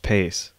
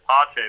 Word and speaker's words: Pacé: And as soon as they see that accent, they're going to know it's not pronounced Pace.